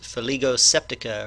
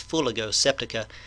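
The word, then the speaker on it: Fuligo septica: dog vomit slime mold its scientific name is for lego septic oh or it may be pronounced fuller go septic a-- f septic a-- but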